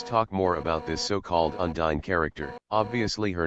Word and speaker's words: Undyne: Later I thought it was cool that her name sounded like Undying, so that also served another purpose.